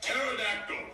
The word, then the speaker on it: pterodactyl: The P is silent.